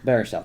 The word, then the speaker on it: Baruchel: Jack Black, I always forget how to pronounce that. Baruchel? Oh, Baruchel, I think. Baruchel, thank you.